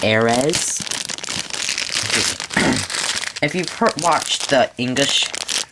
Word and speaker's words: Ares: It may seem like it's pronounced Aries, but if you look at like Rock Aries, it's Aries. Well, this is Ares, so it's Ares.